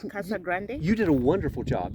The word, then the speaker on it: Casa Grande: Grande Kasa Grand is that how it's said Kasa Grande you did a wonderful job yes Kasa Grande and you're the one learning Spanish that means